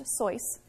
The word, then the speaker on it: Seuss: Seuss is an interesting story asustas his mom's maiden name and it's actually pronounced a sois in the proper German pronunciation while he was in